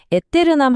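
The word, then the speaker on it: aeternam: 여기서 에테르남 할 때 남 부분을 살짝 길게 느려주는 느낌으로 발음하면 훨씬 멋있어요.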